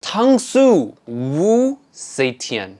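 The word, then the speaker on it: Tangzu Wu Zetian: Tangsu Wu Seitian. Yes, that's the correct way to say it.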